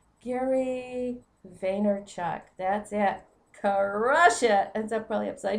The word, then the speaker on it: Vaynerchuk: sorry I've got it right here let me pronounce the man's name right Gary vaynerchuck that's it Kush it and up probably upside